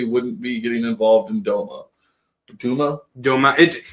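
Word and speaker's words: Douma: and he certainly wouldn't be getting involved in Doma. Duma? Doma. It's D-O-U-M-A. Duma. So whatever. I'm sure there's pronunciation we're getting wrong.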